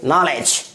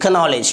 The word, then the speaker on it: knowledge: अगला example KNOWLEDGE, इसे क्या पढ़ेंगे नॉलेज, क्या पढ़ेंगे नॉलेज ना कि कनॉलेज, क्या पढ़ेंगे नॉलेज।